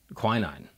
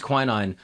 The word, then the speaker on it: quinine: he brings malaria medication quinine is that how you pronounce it yeah he brings quinine on the train smuggles